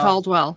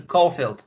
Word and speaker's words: Caulfield: Caldwell. So if people are familiar with the games, and right, is that correct? How you say her name? Maxine Caulfield.